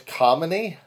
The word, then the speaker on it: Khamenei: It would look like it was Khamenei. Khamenei. They had the K silent. I've heard some people pronouncing his name Khamenei or Khamenei, putting a little in there. And yes, this guy ran